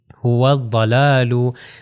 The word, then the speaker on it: هو الضلال: Example بھی اسی طرح هو الضلال، یہ جو واو جو ہے ضاد سے مل جائے گا اور یہ الف لام تلفظ نہیں ہوگا، تو اس کا پروننسیشن ہو جائے گی هو الضلال۔ اب ضاد کا آپ